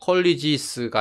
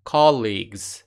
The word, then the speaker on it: colleagues: 발음을 주의하셔야 됩니다. colleges가 아니고 colleagues. 같이 co-league 같은 급에 있는 사람들이죠.